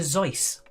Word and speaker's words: Seuss: The correct pronunciation of Dr. Seuss is Dr. Zeus.